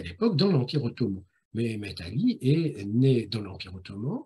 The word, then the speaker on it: Mehmet Ali: C'est-à-dire, je vais prononcer son nom à la mode turque et pas à la mode arabe. Aujourd'hui, on trouve souvent Muhammad Ali. Pourquoi Mehmet Ali? Parce que c'est une formulation turque.